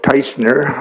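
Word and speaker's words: Tajcnar: My name is Teisner, almost as bad as Wilkie. Close. The spelling is T-A-J-C-N-A-R. AJ is pronounced as a Y, so that's how you get it.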